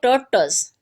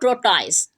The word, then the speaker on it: tortoise: इस वर्ड में भी there are two syllable, tortoise. First one is tur, second is turs. Stress syllable in first पर stress आएगा टर पर. क्लियर? उसको जब हम प्रोनाउंस करेंगे वो करेंगे टर्टस और टर्टस. ठीक है, the correct pronunciation of this word टर्टस, नॉट टोर्टाइज.